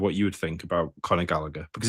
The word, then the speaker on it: Gallagher: So, so let me pull up Connor Gallagher because that's how you pronounce that name because in Irish the gh makes a h sound.